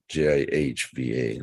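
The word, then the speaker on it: जिह्वा: lust krudha anger Shiva not not j-i-ba but jih VA long a that means the tongue again big on this word is repeated the tongue Jiva the tongue wants to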